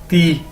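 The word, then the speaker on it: 弟: कैसे प्रोनाउंस करना है, ती, डी को हम कैसे प्रोनाउंस करेंगे एज अ ते या, ठीक है, तो डी आई ती, टी नहीं इसको कहना, ती, ठीक है, ते वाला ती।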